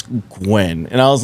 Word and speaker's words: Nguyen: first job, I butchered, it was Gwen. Just GWEN? No, the NGUYEN. Oh, okay. The Asian way of saying it, right? Mm-hmm. And I said Nujian.